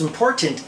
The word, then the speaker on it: important: It is just as important as pronouncing the first letter T in the word important.